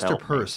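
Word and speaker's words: Peirce: have hard names pronounce actually Hester Pierce has a weirdly it's easy to pronounce but a weirdly purse is actually how it's pronounced really oh really yeah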